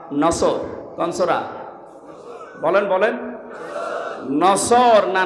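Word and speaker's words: نصر: নুন সোয়াদ র। নাসরুন শব্দের শাব্দিক অর্থ হচ্ছে সাহায্য, আর নুন সিন র নাসর মানে ঈগল পাখি। এই জন্য যারা এই সূরাটা পড়তে গিয়ে সোয়াদ না বলে সিন দিয়ে উচ্চারণ করেন, আপনার কিন্তু নামাজ হবে না।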